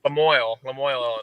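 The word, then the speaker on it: La Moille: How do you pronounce, is it Lemoyne, Illinois? How do you pronounce it? Lemoyne, Illinois, yeah. I tried to go French, and it's as damn as American as Lemoyne.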